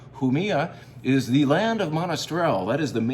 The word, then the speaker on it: Jumilla: Starts with a J, so you pronounce that with a sound. Jumilla is the land of Monastrell.